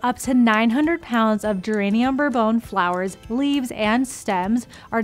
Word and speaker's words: Geranium Bourbon: Now, when you place a 190 PV order on Subscribe to Save, you will receive one of our newest essential oils, Geranium Bourbon.